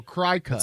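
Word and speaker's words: Cricut: a crazy but it but it's not spelled like Cricket right it's c-r-i-c cutting machine right so cry Cuts it's a play on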